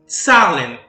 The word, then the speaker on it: Zahlen: E, em alemão, a palavra número se escreve assim. E nós lemos Zahlen.